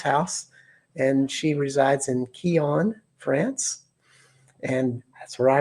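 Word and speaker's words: Quillan: And if you're from Texas, you would call it Quillon, like a redneck would say. But we are in France, so we say it like the French, Quillon. Very poetic, kind of sexy, Quillon.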